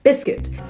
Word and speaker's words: biscuit: so they have a silent U both words okay so circuit and biscuit activate circuits concerns the